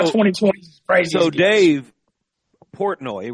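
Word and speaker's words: Portnoy: So Dave Portoi right that's how you say it.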